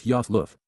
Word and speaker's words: Ayaloth: Ayaloth, pronounced as Yoth Luth, is being used as a divine title, similar to Elohim, although now in conjunction with the set-apart spirit.